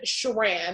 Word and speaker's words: Sheran: the most, and just put in Sheran, it's spelled like she ran down the street.